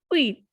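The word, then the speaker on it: huit: Next is wheat. Because as I told you in my previous videos that H is considered as vowel in French, so it is not pronounced. And U and I has sound ui. So the pronunciation will be wheat.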